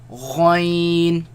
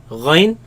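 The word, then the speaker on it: غين: Kha, Ghain, Ghain, Again, the ya sound. Do not produce the nasal sound.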